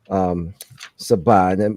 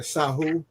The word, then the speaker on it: Sahu: to show his actual Sabah. Am I saying it correctly, Mfundishi, the mummy? Yeah, the Sahu. The Sahu, excuse me.